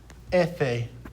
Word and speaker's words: efe: we've got f and in spanish it's pronounced ethe so repeat after me efe in our word that